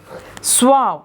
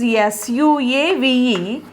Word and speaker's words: suave: Suave. Spelling is S-U-A-V-E, but pronunciation is suave.